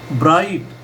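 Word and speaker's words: bright: अब ब्राइट ये भी वही आ गया कि ब के बाद आर आ रहा है।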